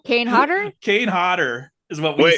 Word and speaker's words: Kane Hodder: Kane Hodder is what we say.